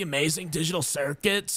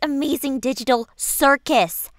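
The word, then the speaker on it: The Amazing Digital Circus: bro, like, I don't have anything against the amazing digital circuits or whatever it's called, but, like, you could do so much better, man. Like, I hear Speaker Woman's looking. It's actually pronounced Amazing Digital Circus, you clown.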